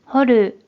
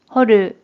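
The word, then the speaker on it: 掘る: 그럼 이번에는 팔굴에 대한 일본어 발음을 확인해 볼게요. 먼저 뜻으로는 掘る、掘る、 한편 음으로는 靴、靴、 라고 각각 발음해요.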